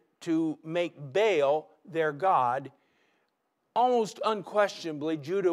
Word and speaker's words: Baal: what about this god baal baal b-a-a-l or in a hebrew pronunciation ba'al is the god of